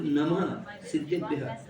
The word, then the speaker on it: नमः सिद्धिभ्यः: और ये नमः सिद्धिभ्यः का उच्चारण है तो नमः सिद्धिभ्यः, सिद्धों के समान मेरा स्वरूप है, सिद्धों के समान मेरा भी स्वरूप है।